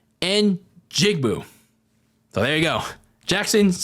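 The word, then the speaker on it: Njigba: like you know how to pronounce it a pronunciation and jigbu so there you go Jackson's son Jackson Smith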